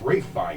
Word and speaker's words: Ralph: way as the other finesse guy Ralph finesse pronounces It Ralph fines I think it's ra F you know it's really weird uh I I